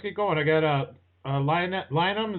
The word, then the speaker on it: Lynam: going I got a l lium is that how you say it that's it that's how you pronounce it good job first time